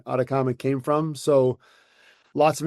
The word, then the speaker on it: Ataccama: Atacama rhymes with llama. Llamas are in the Chilean desert, which is the cleanest air in the world, so to speak, which is where the name Atacama came from.